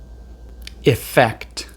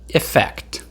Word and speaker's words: effect: an E, it actually sounds more like a short I. I. Try to repeat the sound after me. I. I. Now let's try the whole word. Please repeat after me. T. Ect. Fect. Effect.